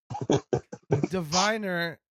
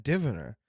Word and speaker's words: Diviner: Diviner is just more interesting of a sound to me than Diviner. Having that emphasis on the first syllable is just like, ugh.